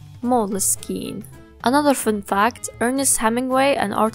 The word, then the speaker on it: Moleskine: Fun fact, Moleskine has no official pronunciation. If you're feeling a little awkward about how to pronounce Moleskine, don't be, because there's no official pronunciation. But if you want to be in line with the Italian maker of Moleskine, the Italian pronunciation is Moleskine.